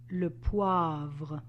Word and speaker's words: vin: laer the water low the wine L if you remember you learned it when you learned how to say the word 20 which sounds exactly the same so I would like